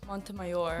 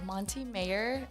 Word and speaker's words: Montemayor: just say mayor because most people can't really pronounce montemayor they go monty mayer and it makes me cringe yeah okay okay is